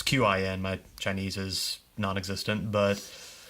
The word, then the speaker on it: Qin: this great emperor of, I think it's pronounced Qin. It's Qin.